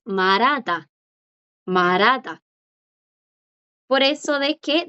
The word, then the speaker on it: 말하다: verbo hablar, que aquí a la J le pasa lo mismo que a chonchoni. Que aquí, delante de esta J, aunque no es un bachim, ¿qué hay? Una consonante. Y hace que la J no suene. Entonces la pronunciación más común es marada.